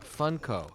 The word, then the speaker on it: Funko: No, I have never had a Funko cereal. What's super fun about this... that's funny how you pronounce it, Funko. Yeah. In my mind, I pronounce it Funko, like a funk band.